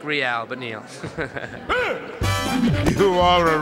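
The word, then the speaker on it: Reale: Okay, because it's spelled N-E-A-L-E, and my last name's spelled R-E-A-L-E, and it's Real.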